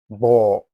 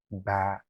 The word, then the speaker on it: ب: Some people will say bo. No, bo is incorrect. The correct one is ba. Ba, you see, I spread my mouth. It is light. Can you hear the difference? The second pronunciation is much lighter and clearer, which is ba.